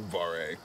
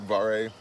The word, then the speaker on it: Vare: You like Vare? No. No. I like bar. Var? Yeah. Well, there's an E on the end. I don't think it's Var. I think it's Vare. Vare. Vare. Vare. Rhymes with bear.